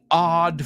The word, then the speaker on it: odd: So, his equally odd family. Y cuidado, no es odd. Aunque es una O, se pronuncia como una A.